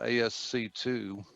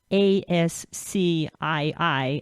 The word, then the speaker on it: ASCII: And for those who don't know, ASCII is an acronym, so it's spelled in all capitals, ASCII. And so those who didn't know what that meant were pronouncing it as ASC2.